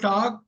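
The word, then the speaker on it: talk: எல் வந்து சைலெண்ட் புரியுதா எல் வந்து சைலெண்ட் டாக்குன்னு படிக்கணும் எல் சொல்லக்கூடாது உச்சரிக்கக்கூடாது ரைட் இந்த எல்லை படிச்சிடக்கூடாது சோ டாக் டாக்டு டாக்டு docking tax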